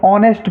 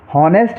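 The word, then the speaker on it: honest: बाद में ओ है तो इसको हम ऑनेस्ट पढ़ेंगे नेस्ट नहीं पढ़ना है ऑनेस्ट पढ़ना है कुछ बच्चे इसको नेस्ट पढ़ते हैं वो गलत है इसको ऑनेस्ट पढ़ेंगे क्योंकि एच साइलेंट रहेगा यहां देखिए आवर एच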